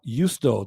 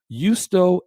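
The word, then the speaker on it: Justo: the story of christianity by yustho the first name is spelled j-u-s-t-o yusto el gonzalez okay in that book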